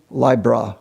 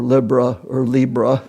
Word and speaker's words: Libra: Looking at our example with the sun has its fall in Libra or Libra. Different people have different pronunciations.